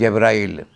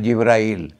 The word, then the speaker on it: Jibril: Sharif is is called Jibril Because the pronunciation of G is in different way Beyond the seas, in Greece it becomes G On this side of the sea towards Arabia, G becomes Ja So Jibril visited him